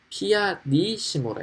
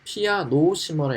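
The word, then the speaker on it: pianissimo: 네, 피아니시모라 읽어요. 피아노시모라 읽으면 안 되고 피아니시모라고 발음하셔야 됩니다.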